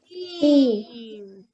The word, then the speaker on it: team: The second one is silent, so I'm gonna cross it out. This word is team. Look at that long E, team. We don't hear the A, it's silent, and your whole spelling